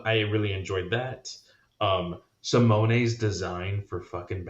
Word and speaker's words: Simone: boy simone uh he or simone excuse me simone is how you pronounce it um he has been on power